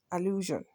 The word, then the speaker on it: allusion: decision do you understand so many of the English words that end with s i o n are pronounced Asun and not not sh do you understand so pronounce after me illusion good so now let's